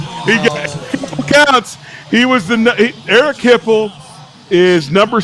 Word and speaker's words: Hipple: I'll give you one of the quarterbacks' last name rhymes with nipple.